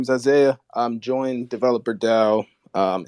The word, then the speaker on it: Isaiah: give an intro or isaiah i might have mispronounced your name no you said it correctly yes i say and um yeah so yeah my name is isaiah i'm joined developer dao